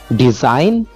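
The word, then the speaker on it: design: Second example में हमारे पास लिखा हुआ है जी, जी के एग्जांपल है डिजाइन। डिजाइन के अंदर यहाँ पर जो लेटर जी है वो साइलेंट लेटर है, ठीक है।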